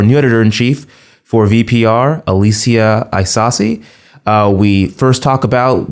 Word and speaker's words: Isasi: Our esteemed president and commanderin-chief, Alicia, how do you say your last name again? Hi Isasi.